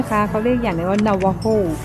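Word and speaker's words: Navajo: เขา เรียก อย่าง ว่า นาวาโฮ จริง ๆ แล้ว สะกด ว่า นาวาโจ นะ คะ แต่ เสียง โจเนี่ย เขา จะ ออก เสียง เป็น เสียง H เสียง ฮอลล์ นะ คะ เป็น นวโฮ อัน นี้ magnet นี้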